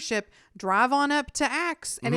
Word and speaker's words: Aix: it's tourist friendly yeah they call it axe by the way it's spelled aix on provence yeah and if you just say acts they know what you're talking about it has a totally